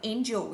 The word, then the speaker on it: angel: Vậy từ đầu tiên đọc là angel, nhưng từ hai nếu đổi đọc là angle.